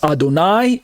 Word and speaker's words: Adonai: pronounced either as adonir Adonai on the right side it's Adonai a-d-o-n-a-i pronounced as Adon plus the word I like your eyeball I Adonai is a title